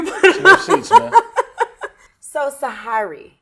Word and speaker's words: Sy Ari: You almost said it right. You had like the Sy Ari. Queethins in it. So Sy Ari. Yeah. Sy Ari. I like that. That's Which perfect. one? Tell me. No, you said it right. The Sy second. Ari. The second one without Sy the Ari. H. You put a little H into it. Sy Ari. Yeah, separated. Okay.